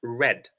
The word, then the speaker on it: read: okay like Creed so read it stays the same in the spelling but in pronunciation it's pronounced red so these are verbs